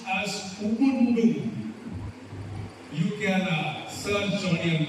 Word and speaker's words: Ubuntu: In the ancient African language, there is a word that is pronounced as Ubuntu.